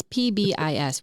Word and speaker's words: PBIS: that right fact yeah it's PBIS we say the letters people um so between